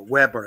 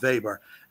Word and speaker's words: Weber: of the whole situation Wilhelm Weber as uh or Weber I think you tend to pronounce it I tend to adopt the Germanic pronunciation Weber uh which Harry mentioned